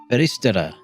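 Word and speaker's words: Felistella: writer Kei Miyakozuki and Summon Night 5 developer Festelia. Feristera. That's how you pronounce it.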